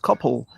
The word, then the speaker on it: Coupell: Because it's meant to be pronounced the same way as the word couple, spelt Couple.